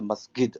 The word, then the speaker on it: masjid: you an example that the Egyptian guy is a masid. I say masjid.